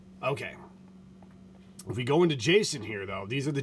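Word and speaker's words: JSON: ones we have enabled Jason packets those that's how you say it okay so again same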